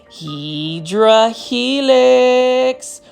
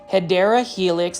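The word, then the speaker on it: Hedera helix: And then you can see right over here, we've got a heedra helix or the correct way to say it is hideera helix.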